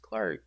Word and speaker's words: Clarke: I actually have a silent letter at the end of my name. You would spell it Clarke. And I always had people growing up, saying, "Oh, you have an E at the end of your name. It's Clark E instead of just Clark." You always had to say, "Nah, it's just Clark," because you wouldn't. E is silent.